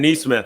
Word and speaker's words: Nesmith: shooting, and it's weird, his name's actually pronounced Aaron Nesmith. Oh, Nesmith, excuse me.